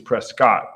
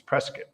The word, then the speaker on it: Prescott: Everybody says Prescott, but Taryn will correct you. It's Prescott.